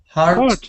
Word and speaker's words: heart: letters four heart yeah but say it properly heart is heart sounds a bit like this hurt hurt heart hurt heart hurt okay great